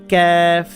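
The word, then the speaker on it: ك: এটা হচ্ছে ক্যাফ, জিব্বার গোড়া যেখান থেকে উচ্চারণ করছেন তার একটু সামনের দিকে আনলে যেটা হয় সেটা হচ্ছে ক্যাফ, ক্যা ক্যা, ক্যাফ।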